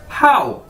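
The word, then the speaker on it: 好: हाउ। जिस तरह आप इंग्लिश का वर्ड बोलते हैं हाउ, तो इसी तरह आपने इसे बोलना है हाउ।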